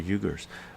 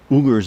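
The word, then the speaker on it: Uyghur: the yugar in China I I'm pronouncing this wrong when I was hearing it I was pronouncing it right uh ugar in ugar in China sure CH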